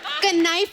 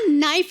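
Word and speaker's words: knife: कनाइफ नहीं होता, नाइफ होता है। के साइलेंट रहता है।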